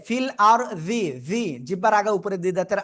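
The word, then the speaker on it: فِي الْأَرْضِ: আপনার জিহ্বার আগে উপরে লাগবে ঠিক আছে আমার উচ্চারণটা একটু শুনবেন কি হুজুর বলেন ফিল আরজি এই যে ফিল আরজি জিহ্বার আগায় উপরে দুই দাদাের আগায় যাতে না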